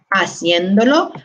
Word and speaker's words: haciéndolo: So if we just follow the natural pronunciation of Spanish, if we did not have that accent mark, we would be pronouncing haciéndolo. And we can hear from the original, it's haciendo, haciendo. So we want to maintain where the stress was originally.